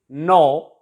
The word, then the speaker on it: know: K is silent before N in most of the words. Knife, it is not pronounced as knife, it is knife. K is silent here. In the same way, know, to know someone, janna.